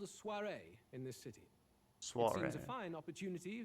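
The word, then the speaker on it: soirée: Soiree.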